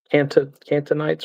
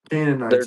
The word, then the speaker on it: Canaanites: I don't the the cantonites or however the you say it. Those people were there first. Palestinians. Canaanites is pronounced the but they're